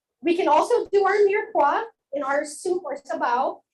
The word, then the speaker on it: mirepoix: When we in French cooking do our sauces, we usually start with a mirepoix. Repeat after me, mirepoix. Mirepoix. Aba, mga gutom. Spelling on. Sir, spell mirepoix. Bagsak. Okay, so mirepoix is Miretoix.